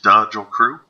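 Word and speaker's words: Dajl Crew: This is Dodgel Crew, D-A-J-L Crew, pronounced Dodgel Crew.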